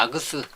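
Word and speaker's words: args: 제가 아그스, 아규먼트들, 아그스라고 발음하는데요.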